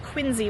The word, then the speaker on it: Quincy: right that's what they said so thank you quiny Massachusetts for all that and you will notice that it is the Quincy family but it is pronounced quiny when we talk about the town I don't